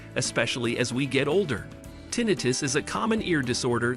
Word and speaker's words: tinnitus: Tinnitus, pronounced tinnitus, is the feeling of hearing a ringing, buzzing, hissing, chirping, whistling, or other sounds in one's ears.